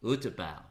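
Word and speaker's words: U-Tapao: How do you pronounce this? Utapao Airport. Utapao. There you go. I'm sounding like a local now.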